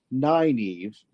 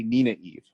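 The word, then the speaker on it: Nynaeve: mental capacity I see the name that is pronounced nine Eve's in my mind I say Nina Eve now I'm warning everybody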